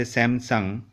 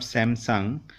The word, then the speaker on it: Samsung: We say Samsung. Actually, it's not Samsung. It's Samsung.